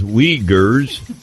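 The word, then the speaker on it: Uighurs: legal limble ever since China regrets the ERS pronounced weers as terrorist suspects and wants them return South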